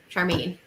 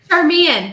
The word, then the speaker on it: Charmian: it's really just for charmaine oh you said it wrong this time charmian there we go yes oh snap oh